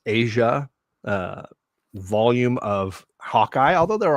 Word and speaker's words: Aja: Famously, this is known as the Matt Fraction and David, and I pronounce it as Asia, volume of Hawkeye, although